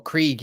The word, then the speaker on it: Krieg: Yeah, and Craig is with or Krieg as they pronounce it. I've always said it was Craig because I like it being Craig.